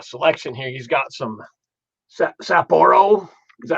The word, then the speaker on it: Sapporo: He's got some Sapporo. Is that how you pronounce it?